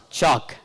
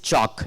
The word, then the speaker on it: chalk: okay what is this chalk what is this boiled boiled lies there it is not bad but here it is chalk it is not bod L is silent here here also L is